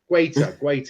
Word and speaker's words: Guaita: Guaita, that's how you pronounce it.